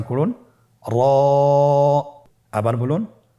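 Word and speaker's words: ر: এবং র হরফটি এক আলিফ টেনে পড়ব। আপনারা আমার সাথে বলুন। র আবার বলুন র এর মাখরাজ কোন জায়গা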